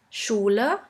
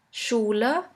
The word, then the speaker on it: Schule: The next letter combination is SCH, which is simply pronounced like the letter combination SH. Let's have a look at a few examples. In English, you would simply pronounce it like in the word sheep, sheep. And in German, we have the word Schule, Schule, which means school.